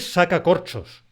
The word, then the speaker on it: sacacorchos: Él saca corchos frente a el sacacorchos. Él saca corchos por un lado, el sacacorchos por otro lado.